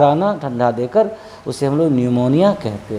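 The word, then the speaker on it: pneumonia: बाद and happy से रोकता है इसलिए इसको न्यूमोनिया पढ़ते अमरुद निमोनिया निमोनिया का मतलब है सीट जीवन है में अनेक ठंडा से बुखार आना धरना देकर उसे हुए न्यूमोनिया कहते हैं उसी तरह से बीजेपी एड्रेस हुआ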